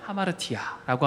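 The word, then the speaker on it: ἁμαρτία: 발음하자면 하마르티아라고 합니다. 한번 같이 발음해 볼까요? 시작. 하마르티아.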